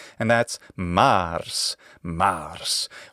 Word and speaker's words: Mars: right and that's Mars Mars why is it a long ah well that's because it's a contraction of mar his Greek equivalent is